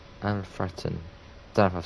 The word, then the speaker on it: Alfreton: Oh, it's pronounced Alfretun. Alfretun.